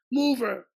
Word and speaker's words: Mover: blah blah M I said mover Tony he said no M you're telling me how to pronounce my name oh my God that's crazy I said when you want to change houses what do you got a Furniture mover exactly in Italy too